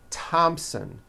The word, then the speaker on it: Thompson: spelled with a th they are pronounced as if they were spelled with a normal t t like that and these words are thomas thompson teresa thailand thames like